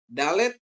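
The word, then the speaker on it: דלת: Dalet dibunyikan seperti D untuk kata daerah ya.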